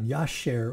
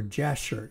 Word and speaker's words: Jasher: 11:18 there mentions the book of of yasher or jasher you might call you might pronounce it so whoever wrote it